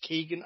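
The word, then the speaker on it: Keoghan: But yeah, let's people are watching this because Barry, and I think it's meant to be pronounced Keegan, I think.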